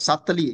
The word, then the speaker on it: subtly: not a common word subtly ok subtly mean how do you pronounce the word subtly you don't say subly not subtly no eh the b is silent is from the word subtle subtle means you do